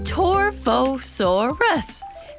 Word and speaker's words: Torvosaurus: You say my name, Torvosaurus.